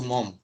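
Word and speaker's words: Maugham: যাবো উনার নাম হচ্ছে উইলিয়াম সমারসেট মম এটা উচ্চারণটা একটু দেখেন অনেকে হয়তো হতে পারে এটা নাম হচ্ছে মম এটা ডব্লিউ for William William Somerset মম okay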